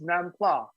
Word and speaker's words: nam pla: It's nam pla. right? That's how you pronounce it.